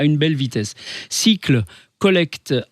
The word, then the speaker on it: Sikle: fondateur de cycle alors cycle ça s'écrit s kle cycle les composteurs de Strasbourg